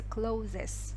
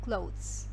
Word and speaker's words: clothes: Кстати, вот слово clothes часто произносится неправильно, говорится clothes. No. Читается как clothes.